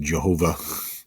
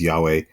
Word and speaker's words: Yahweh: corresponds to the word Yahweh um sometimes incorrectly pronounced Jehovah by going back to um uh ancient Roman times but it's Yahweh in in the name